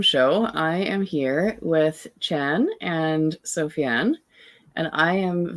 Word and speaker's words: Trang: I'm Chan, and it's spelled Trang.